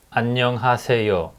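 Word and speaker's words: 안녕하세요: else hello ano hace there is a five syllables annyeonghaseyo and if you say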